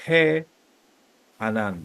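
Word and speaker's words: הענן: que anan Ah okay la primera cuando yo no tengo el que tengo la he la he con el segol ahí se dice he anan vamos de nuevo se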